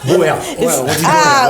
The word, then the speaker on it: Boer: en français, on dit Boer. Ok, on dit les d'accord. Boer, c'est pour ça. Boer, mais la prononciation sud-africaine, c'est Bourg.